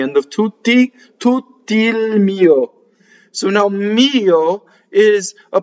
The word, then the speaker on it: mio: So now mio is a possessive pronoun, and most possessive pronouns have the accent on the first semivowel. Mio, mio. And the O is like a grace note, right? That you just have to add on.